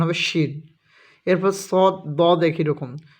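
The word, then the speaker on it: ش: যখনই সিন লিখে সিনের উপরে তিন নোক্তা দিবে উচ্চারণ হবে শিন।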